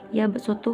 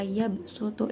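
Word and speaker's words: يبسط: Nah, dibaca yabsutu huruf dibacanya huruf sad, dibaca sin. Wa yabsutu, jadi bukan pakai sod tapi pakai sin.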